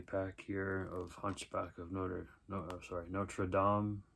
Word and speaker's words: Notre Dame: Another 2-movie pack here of Hunchback of Notre Dame. That's how you say it, or what people say it, Notre Dame. I think it's Notre Dame, the correct way to say it.